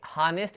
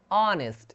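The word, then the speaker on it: honest: As silent वाले बहुत सारे एग्जांपल्स हैं, जिसमें से हम कुछ एग्जांपल्स देख रहे हैं, जैसे ऑनेस्ट, यहाँ पे हानेस्ट नहीं पढ़ते, इसको क्या पढ़ते हैं, ऑनेस्ट यानी ईमानदार।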